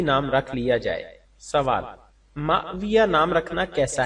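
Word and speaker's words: ماوية: रख लिया जाए सवाल माविया नाम रखना कैसा है जवाब माविया मीम के बाद हमजा पर सुकून वाव पर जबर या मुश दद के साथ के मानी शफाफ पत्थर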